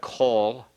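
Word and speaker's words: כֹּל: Is it still pronounced coal because it's a common tattoo? It's pronounced kol. It's not as long as the coal, but yes.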